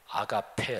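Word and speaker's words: ἀγάπη: 때문에 잠깐 말씀드리면 하나님의 사랑 그건 힐라 으로 아가페 라고 발음합니다 그런데 여기에 세상에 정육 이 정욕 이란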